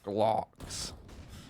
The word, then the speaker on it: Glock: Glocks with a W, by the way. That's how you say it. It's Glock round. Glocks.